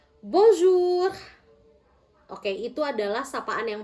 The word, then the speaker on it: bonjour: Bon jur. Bonjour. Oke bisa ya. Bong. Bong. Bulat bulat seperti ini. Jadi benar-benar bunyinya o. Bonjur. Bonjur.